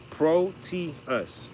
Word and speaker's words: Proteus: Proteus, 3 syllables. Pro, first word. Te, second. Us, third.